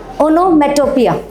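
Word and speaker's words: onomatopoeia: हाउ you will pronounce it? ओनोमेटोपिया।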